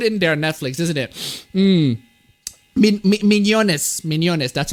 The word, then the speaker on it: Mignonnes: Mignonnes. That's how you pronounce it.